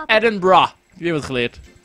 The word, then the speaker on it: Edinburgh: I'm actually from Edinburgh. Zo spreek je dit uit. Je spreekt het niet als Edinburgh. Het is Edinburgh.